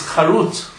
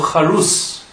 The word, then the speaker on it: charut: The word for engraved in Hebrew is charut or charus. And the word charut, our sages said, can also be read as cherut. The exact same letters, but just with a different pronunciation. Word charut becomes cherut, or charus becomes cherus. And cherus means freedom. Now the letters were not engraved on the tablets, but the letters are freedom on the tablets.